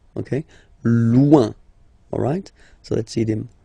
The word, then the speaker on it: loin: Loin. Loin. So remember when you get this combination O-I-N, it's ouin, ouin, ouin, okay? Loin.